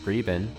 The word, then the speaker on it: 日本: R has a bit of an accent to it in Mandarin Chinese. Their name for Japan, Riben, sounds like something between Riben and Jiben.